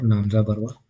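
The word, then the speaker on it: Namcha Barwa: कांगटू लाइ इन अरुणाचल प्रदेश और नामचा बरवा जो है नामचा बरवा और नामजा बरवा जो लोकल प्रोनाउंसिएशन है उसका वो तिब्बत पे लाई करता है।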